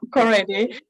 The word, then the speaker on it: Korede: It's Korede.